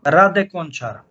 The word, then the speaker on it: Rade Končar: For turbines, and then also Rade Končar.